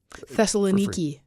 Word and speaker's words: Thessaloniki: And you'll see it just Thessaloniki. Is that how you pronounce that? Now, in modern day, yeah. But wasn't it Thessalonica Yeah. before? In King James.